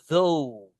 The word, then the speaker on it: though: Kalau meskipun is though ingat guys though ya th itu dibaca kayak gitu guys. Lidah kita itu digigit bukan digigit ya. Heeh. Keluar dan sampai di tengah-tengah gigi atas sama bawah.